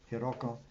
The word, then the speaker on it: Hiroko: is pianist Hiroko Nagahata, and I just mispronounced your first name. Forgive me, Hiroko Nagahata.